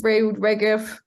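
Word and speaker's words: Reut Regev: Okay, my trombone is Reud Regev.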